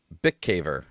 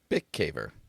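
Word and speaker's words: Bikavér: Bick caver.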